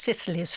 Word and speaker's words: Cecily's: And so we founded Cecily's Fund, spelt Cecily, C-E-C, but pronounced Cecily's Fund, in 1998, and in order to continue to pay for the education for those children.